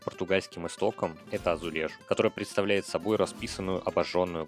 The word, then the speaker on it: azulejo: Арабы принесли глазурованный кафель в Испанию, где он стал называться асулехас, и Португалию, где то же самое слово начали произносить азулежу.